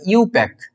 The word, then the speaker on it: IUPAC: জিনিসগুলো জেনে রাখতে হবে এটাকে আই ইউপিএ এরকম ভাবে বলা হয় না আই ইউপি এ সি এরকম বলা হয় না এটাকে এরকম বলা হয় ইউপ্যাক ইউ পাক ইউ পাক এইরকম ভাবে বলা হয় ইউ মানে এইভাবে উচ্চারণ করবে আর কি ইউ ওয়াই ও ইউ পাক ইয়েস কে ঠিক আছে এইভাবে উচ্চারণ করা হয় তো দেখতে পাচ্ছ কিভাবে